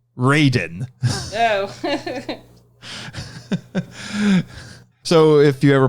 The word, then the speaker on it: Raiden: Although I've heard that pronounced Raiden, probably so they don't get him confused with the Mortal Kombat character. And there's also a character named Fujin in the Mortal Kombat games. And he's a wind god. Actually, Raiden's probably the correct Japanese pronunciation. Probably.